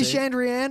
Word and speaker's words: Chandrian: has to be Chandrian, otherwise the poems that he's referred to a few times, he rhymes Chandrian with plan. Okay. So unless it's plan, then it's Chandrian.